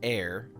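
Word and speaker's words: Aer: not for me um it's called uh a e r or i think it was supposed to be pronounced air pretty light so far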